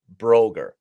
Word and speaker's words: Broegger: not going to be able to say it Broger uh and I again apologies Natasha welcome to